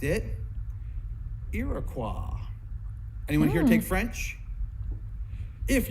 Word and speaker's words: Iroquois: qu o is you would pronounce it qua and that's what the French people call this Iroquois if you went up to Montreal right now that's how they still say that word so Iroquois not Iroquois like ile of qua which is where that word originally come from why people around here say Iroquois I have no idea you're actually saying it wrong and you're admit you're